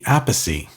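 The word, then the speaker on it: Appice: I I never know how to say his name properly, but uh Vinnie Vinnie a piece. Vinnie Ape Glenn, how do you say it? It's Carmine a piece. Vinnie Apey.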